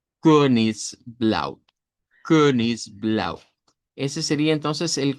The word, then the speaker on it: Königsblau: Es la e del español pero con redondez. Ese es el sonido. Königsblau.